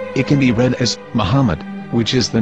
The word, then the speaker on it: Muhammad: Muslim prophet, or as Mamad with no A after the H. According to Ben Yehuda's Hebrew English Dictionary, it is correctly pronounced as Muhammad, not Mamad.